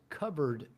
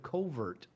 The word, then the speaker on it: covert: And he said, this guy says covered contracts instead of covert contracts. And so after a few years, several years actually, I wrote my agent and I said, listen, we fulfilled that contract. The guy mispronounces covert contracts.